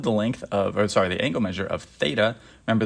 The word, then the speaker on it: theta: We're finding the the angle measure of theta. Remember, this is just a letter in the Greek alphabet, pronounced theta.